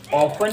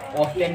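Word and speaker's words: often: अरे लड़ो मत, क्योंकि इसकी राइट प्रोनाउंसिएशन ऑफन भी होती है और ऑफ्टन भी होती है।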